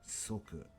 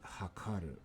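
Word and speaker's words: 測: Soku. Hokani hakaru are two pronunciations. Soku or hakaru. Soku or hakaru. Soku or hakaru is to fathom, plan, or a measure.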